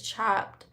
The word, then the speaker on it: Chopt: You said she is chopped. You know, my favorite salad restaurant is called Chopped, but it's spelled CHOPT.